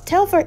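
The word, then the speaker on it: Telfar: quick shout out to telfer i hope i'm pronouncing it right it was a quick little shout out in this episode now telfer is oh i'm saying it right it's a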